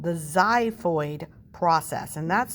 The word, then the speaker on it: xiphoid: And then this little pointy piece on the bottom is called the xiphoid process, and that's spelled X-I-P-H-O-I-D, xiphoid process.